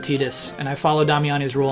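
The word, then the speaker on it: Tidus: Damiani told me to pronounce it Tetus and I follow Damiani's rule on that one.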